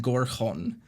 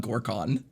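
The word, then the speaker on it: Gorkhon: pathologic takes place on is called the town on gorkhorn but I just pronounced it as the town on gorkon the whole way through and it's just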